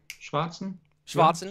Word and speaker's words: Schwarzenegger: at my german pronunciations am i hitting that schwarzenegger pretty well it's pretty good schwarzenegger sounds good a little more on the a i get it now